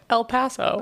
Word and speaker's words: El Paso: I can't pronounce it like El Paso okay El Paso El Paso not Paso that sounds New England El Paso El Paso